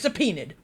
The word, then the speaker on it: subpoena: The court will take a 30-minute recess while the witness is subpoenaed.